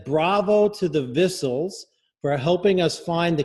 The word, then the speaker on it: Vissell: tell you this, but our name is pronounced Vissells. Thank you very much. Vissells. I took French, and that very good. Good for you. So that's thank you very much. It's okay. Most people say Vissel, and it's fine.